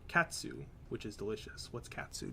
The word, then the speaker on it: katsu: and any Japanese word the syllable TSU in it is said like the TS at the end of the word cats a helpful word for getting the feeling of saying it is the word katsu which is delicious what's